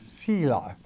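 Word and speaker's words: Selah: word Sheila mean uh how how do you pronounce the word it is sea life and it is a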